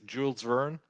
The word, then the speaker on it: Jules Verne: early age uh the the us pronunciation is jules verne julian in french i read probably by